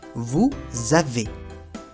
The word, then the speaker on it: vous avez: La ez se pronuncia como si fuera un e acento agudo. E e ahí sonriendo. E vous avez.